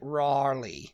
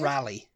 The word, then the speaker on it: Raleigh: is the next one Raleigh North Carolina which apparently is like Raley Raleigh Raleigh yeah Raleigh cuz it's like Raleigh it's like the accent isn't it R wait how did you say it rally rally yeah like the bike rally yeah but I and